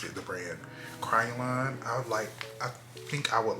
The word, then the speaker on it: Kryolan: Two, instead of using this Roan white paint stick, get the Kryolan. I think that's how you pronounce it, the brand. Kryolan.